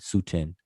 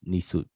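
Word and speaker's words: nswt: that is suiting you you may see people spell it suten s-u-t-e-n sutin but it's nisoot and that's that's where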